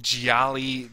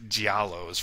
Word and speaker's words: Gialli: I call Gialli Giallos for some reason, and what's annoying is